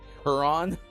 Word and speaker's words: Huron: For example, did you know that it's pronounced Lake Huron?